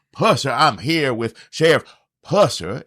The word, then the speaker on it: Pusser: We are going to pronounce his name Buford Pusser, not Pusser. If you look at some of the stuff, the new stuff, today they say Pusser.